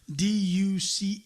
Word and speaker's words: Duchesne: Robert Duchesne's going to be there, and I highly suggest people get on your computer, type in Robert Duchesne, the French version, Duchaine.